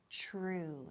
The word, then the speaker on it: true: And the pronunciation TR, ch, true. It's true.